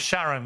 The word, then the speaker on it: Sharon: It's Sharon, not Karen.